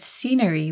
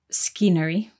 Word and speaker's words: scenery: exactly in the word scenery we have another silent letter so scenery is spelled s-c-e-n-e-r-y but the C is silent at the beginning so we don't say scenery we say scenery good